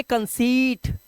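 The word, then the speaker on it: conceit: rule number 19 जब किसी शब्द के अंत में ई आए दिया हो शब्द के अंत में बोल रहा है ध्यान रखना शब्द के अंत में इ आई दिया हो तब ई आई का उच्चारण ई करना है अब देखो शब्द के अंत में है ई आई उसके बाद टी है तो शब्द के अंत में ई आई हो गया तो इसे पढ़ेंगे कंसीट सीट अब यहां पर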